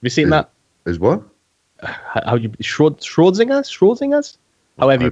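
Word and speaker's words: Schrödinger: Schrodinger's? However you pronounce his name.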